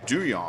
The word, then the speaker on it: Duhon: So Andrew Duhon's name is Doo actually Yong. pronounced Doo Yong.